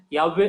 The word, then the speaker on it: Yahweh: Yahweh is the very proper pronunciation according to the Hebrew scripture.